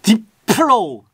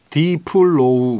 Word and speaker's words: 딥플로우: 왜냐면 딥에 P랑 F에 F가 네. 붙어 있어서 P랑 F랑 같이 붙어 있으면은 이게 진짜 발음이 좀 힘들거든요. 딥플로우. 플로우. 딥플로우. 그러니까 이게 좀 힘들어요. 영어를 진짜 원어민처럼 하지 않으면. 그래서 디플로우 막 이렇게 듣는 사람도 있고.